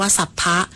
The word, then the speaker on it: สรรพ: สลาย คำ ว่า ศัพท์ ใช้ ประสม กับ คำ อื่น ออก เสียง ว่า สัพพะ แปล ว่า ทั้ง หมด